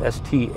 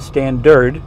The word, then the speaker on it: Stannard: That's spelled S-T-A-N-N-A-R-D, not Standard, Stannard.